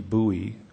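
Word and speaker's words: Buie: Bowie. Bowie is spelled B-U-I-E, 494 U.S.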